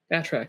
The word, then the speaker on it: Athurack: Athurack? Is that how you say it? Athurack.